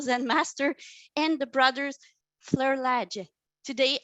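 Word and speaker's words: Flerlage: master and the brothers fleur ledge today i heard the name for the first time you know with my ear i was pronouncing ken fleur lager it was not that so now i know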